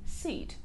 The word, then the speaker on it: seat: Произносится чуть-чуть по-другому. Там было sit, а тут seat.